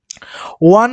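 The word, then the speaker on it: one: সুবিধা হবে এবং অ্যানসার গুলো মিলে নিতে পারবেন ওয়ান ম্যান বিজনেস তাহলে ওয়ান তাহলে ওয়ান টা কি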